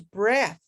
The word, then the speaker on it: breath: on the end so with that e on the end is breathe and without that e it's breath it's talking about basically